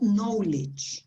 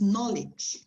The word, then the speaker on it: knowledge: with that no okay but when we go to the noun this is different it's not knowledge it's knowledge knowledge it is the same